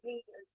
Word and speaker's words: read: when read read read हाँ वही read pronunciation रेड होगा इसलिए रेड फॉरवर्ड। हाँ वही वही रीड का रेड रेड होता है ना, तो इसलिए रेड फॉरवर्ड।